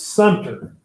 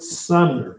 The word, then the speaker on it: Sumter: It's Sumter. You know, people want to call it Fort Sumner. It's not Fort Sumter. There was a Fort Sumner, New Mexico, but Fort Sumter, okay? Sumter.